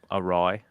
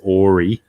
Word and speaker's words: awry: my early twenties and i was reading it as ori ah and then i and once i had learned that it is actually awry a very good close